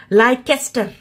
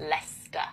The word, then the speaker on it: Leicester: Leicester, 100%. Leicester.